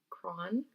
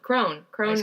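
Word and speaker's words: Kron: I always say his name wrong. Crone. Ice cream. Crone. That's how I remember it.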